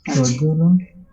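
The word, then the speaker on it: رَجُلَانِ: নে হবে না নি হবে? নি নিউ আছে, যে নি, রজুলানি। আমার ভুল হচ্ছে, আমার ওই এই সমস্যা হয়ে গেছে উচ্চারণে, নে হয়ে যায় শুধু। কেন হয় জানি না, হয়তো নি বা আমার টিচার নে পড়তে জন্য আমার এরকম হয়ে গেছে, কিন্তু এটা নি হবে।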